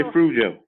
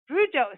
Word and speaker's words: Fruge: Is it Fruge or because like I don't know if it's like a Cajun name, Creole name. And it's Frujo. Frujo.